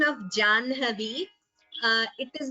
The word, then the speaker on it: जाह्नवी: Here the word is Janhavi. So please note the right pronunciation. It is not Jahnavi, it is Janhavi.